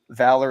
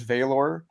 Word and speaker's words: Valor: our team uh she kept mispronouncing Valor as vilor in all the meetings and uh Steve would always message me after the meetings' be like does she know how to pronounce Valor correctly oh no and uh